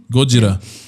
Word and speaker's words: Gojira: Oh, I I didn't That's how they say it. Godzilla. Gojira. Really? So, the difference is Japanese doesn't have emphasis.